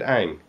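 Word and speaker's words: Aang: huge deal but really if if you watch the Animated Series yourself and you were scripting this thing you you would have pronounced it Ang you know I don't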